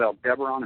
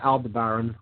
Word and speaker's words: Aldebaran: uh i you know there's different pronunciations of that i just call it aldebaran um they uh different